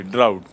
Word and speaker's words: drought: Dryness, total dryness, in English that is called ड्राउट. सी the spelling, D आर ए यू जी एच टी, ड्राउट.